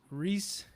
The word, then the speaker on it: Rhys: And again, it's making sorry to pronounce it right. It's Rhys, right?